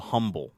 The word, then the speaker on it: Humble: is a area called Humble okay H um ble but they pronounce it humble no H so I was an